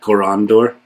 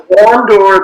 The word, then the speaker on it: Corondur: So Corondur, the stress goes in the middle because that syllable has an ND in it, whereas something like Eldamo,